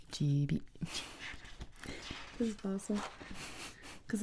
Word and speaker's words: Gibi: It's pronounced Gibi.